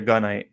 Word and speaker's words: Gunite: Jared says it like he's saying good night with a southern accent. You say Gunite or Gunite? I say Gunite because it's a gun runner.